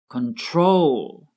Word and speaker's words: control: With control, the stress is on the last syllable, control.